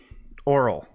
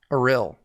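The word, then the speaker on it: Auril: Oral. Aril. Aril, that's it. That's how you pronounce it.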